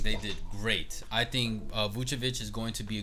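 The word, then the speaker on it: Vučević: How you pronounce his name? Vucevic. Okay, then. Vucevic.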